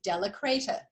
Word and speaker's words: de la Cretaz: And my last name is Della Creta, small letter D-E, space, small letter L-A, space, capital C-R-E-T-A-Z, as in zebra, and it rhymes with see you later.